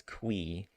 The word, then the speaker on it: Qi: Is it Mr. Qi, Mr. I don't know. Mr. Kway. Uh ConcernedApe pronounces it as Kwee. And I I like that. I think that's a funny way to say it.